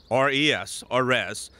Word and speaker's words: RES: of wetland mitigation Solutions res pronounced res has over 30 mitigation